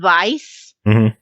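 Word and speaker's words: Weiss: you his name is it's pronounced vice but it's spelled w-e-i-s-s um so you can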